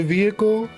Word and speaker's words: vehicle: You know how she say vehicle? Vehicle? Vehicle. Like she vehicle. I'm like, you don't have to put so much emphasis on the second syllable.